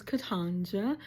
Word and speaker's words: Katynja: Um, my name is Katanja. That's how you pronounce it.